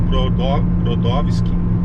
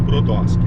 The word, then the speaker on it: Brodowski: Então Brodowski, que pode, né, a pronúncia pode ser tanto Brodowski quanto Brodowski, né? O Brodowski é porque é o sotaque russo, o Brodowski é o caipirado, né? O caipirado da região, né?